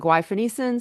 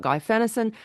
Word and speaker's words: guaifenesin: We say some people call it guaifenesin, some people call it guaifenesin.